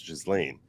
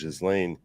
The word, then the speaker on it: Ghislaine: me pronounce it as Ghislaine. Not like a Ghislaine, like a soft S. Ghislaine, right? Like a soft S. So the S is pronounced.